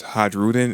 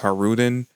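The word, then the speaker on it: Hajrudin: New Giant Warrior Pirates HJ Ruden in my last review but turns out the J is actually meant to be silent so his name is actually pronounced har Rudin now we do find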